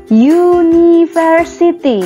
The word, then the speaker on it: university: University. Ini dibaca university. Ini kan tulisannya a i u e u menggunakan u. Vokal. Tapi cara bacanya university.